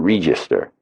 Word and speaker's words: Register: Catherine Register. Spelled like the cash register, but you pronounce it re as in Reaper.